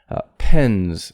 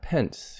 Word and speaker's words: pens: the southern us southwestern pens and so another thing here is the s is voiced n is voiced so the s ending gets voiced pens not pence you don't want to say pence pence is like a person's